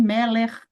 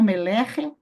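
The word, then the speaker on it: מֶלֶךְ: Ó, como em Meller. Lembra que nós pronunciamos Meller e não Melerre?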